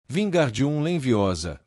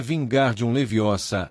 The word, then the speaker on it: Wingardium Leviosa: Wingardium Leviosa, ordenou, sacudindo os braços compridos como pás de moinho. Você está dizendo o feitiço errado. Harry ouviu Hermione corrigir aborrecida. É Wingardium Leviosa, é bem pronunciado e longo.